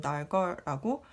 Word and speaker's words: Darger: 예, 왜 다저인지 닥어인지 네이티브 스피커 분들도 잘 모르시는 것 같더라고요. 제가 이 작가에 대해서 알게 되고 나서 유튜브에서 찾아보니까 이분의 삶을 다룬 몇 개의 다큐멘터리가 있는데 두 가지 발음이 병존하고 있었어요. 근데 좀 더 공신력 있는 채널에서 만든 다큐멘터리에서는 헨리 달거라고 했기 때문에 저는 달거라고 네, 발음을 하도록 하겠습니다.